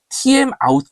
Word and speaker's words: TMOut: 이 안에 TMOut 값을 설정해주면 됩니다. timeout이라고 읽으면 좋겠는데 실제는 TMOut이기 때문에 그냥 영어 스펠링으로 읽어보았습니다.